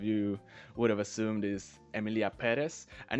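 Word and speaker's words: Emilia Pérez: guess most of you would have assumed is Emilia Perez and it's pronounced Emilia pz not Emilia Perez like a lot of yall are saying for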